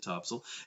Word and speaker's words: Topsail: well in Topsail and if you're not from here yes we do pronounce it Topsail everything from the beach